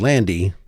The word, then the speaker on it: Lande: And she assures me that it is pronounced Lande, even though it looks like it's Lande Hekt.